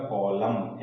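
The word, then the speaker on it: column: कुछ एग्जांपल देखते हैं कलम तो अंत में देखिए सिमट के क्या रहा है एम एन दोनों का कांबिनेशन है इसलिए यहां पर एन लेटर क्या हो जाएगा साइलेंट हो जाएगा तो इसको प्रमोशन क्या हो जाएगा कलम एन का फ्रांसिस्सों नहीं किया जाएगा नेक्स्ट है दम यहां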